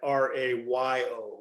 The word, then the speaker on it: Rayo: let you know uh you pronounce my name like r-a-y-o ray-o oh thank you i